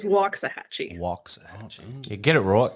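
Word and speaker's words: Waxahachie: say where you're from is it waxah Hatchy is that how you say it you were close you're close it is walk a hatchee walks a Get It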